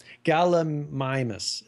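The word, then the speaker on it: Gallimimus: Galamimus is what it is. Galamimus. Okay. Yeah. They have a Oh, they have a pronunciation.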